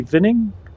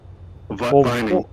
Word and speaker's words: Lee Vining: And then on to our next landing, which is Lee Vinning, Oscar 24. Am I saying it right? Vinning? Vining. Vining. Yeah, I wasn't sure if it was Vinning or Vining.